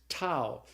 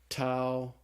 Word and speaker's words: tau: the next letter is tau and tau looks just like the English tea and it's pronounced like the English tea so the Tau is pronounced like the T in the word talk okay after the tau